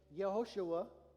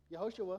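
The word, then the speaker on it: יהושע: The name Joshua is actually a Hebrew name Yehoshua. Yehoshua, right? Okay, that's how it would have been pronounced. They didn't have the J sound.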